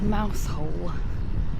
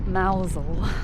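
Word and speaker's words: Mousehole: But this being Cornwall, you must never actually pronounce the place as it's spelled. So that's not fair actually. But in this instance, it's pronounced Mousel.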